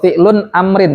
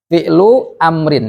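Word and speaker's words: فعلُ أمرٍ: kalau ini ya idofah jangan baca Fi UN amrun salah atau fi'lun Amrin juga salah fi'lu Amrin yang benar idofah jelas ya Ah Berarti sekarang gimana ngabnya Kumu fi'lu Amrin terus marfu majzum mabni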